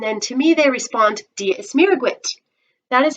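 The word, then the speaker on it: Dia is Muire dhuit: say diaguit and then to me they respond diaz miraguit that is how you say hello oh hello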